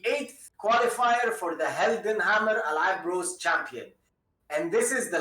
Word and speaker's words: Al3ab: So yeah, Vclo, it's called Al3ab. You see the you have to say it like this, alright, not Al3ab.